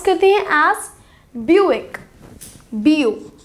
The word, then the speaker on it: Buick: see k bu I see okay or say pronounce Kathy as Buick bu b e au bill bill buick buick our final car brand name is p